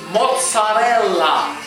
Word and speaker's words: mozzarella: He goes, but why you Americans say mutz? Mozzarella. Like we do. We say mozzarella. We say mutz. Right? For mozzarella cheese, we say mutz. He goes, why you say? He goes, it's mozzarella, not mutz.